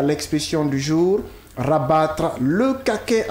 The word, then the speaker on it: caquet: nous intéresser à l'expression du jour rabattre le kaket à quelconque. Caquet qui s'écrit avec C A Q U e T.